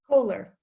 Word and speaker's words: Kohler: And I'll introduce Angelina, pronounced Kaler or Kohler? Kohler. Kohler, okay, Angelina Kohler.